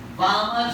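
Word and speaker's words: Balmer: तो इसका नाम बामर series, L silent, पास्टेड series, पास्टेड series.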